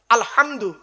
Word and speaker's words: আলহামদু: না বাবা বলুন না আলহামদু গলার ভেতর থেকে হে এটা উচ্চারণ করবেন এই মা বোনেরা মা